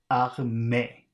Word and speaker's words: armée: All right, so the first word is A-R-M-E, which I'm guessing is pronounced armée. Armée. So 2 syllables, ar, and then me.